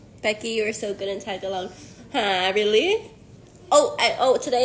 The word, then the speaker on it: Tagalog: you're so good in Tagalog I really oh oh today it's I learned it's tag log right it's I can say it wrong my whole life tag gut log Tagalog no Vietnam says hi